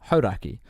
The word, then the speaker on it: Hauraki: It was when I was at Hauraki, a radio station, which is now pronounced Hauraki.